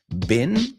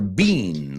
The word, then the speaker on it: been: ¿Cómo se pronuncia? Bin, como basura, bin, B-I-N, recipiente. Or bean, like Abba. Interesting. Both. Yeah. I say been.